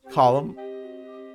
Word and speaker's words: Colin: Column. That's how it's pronounced.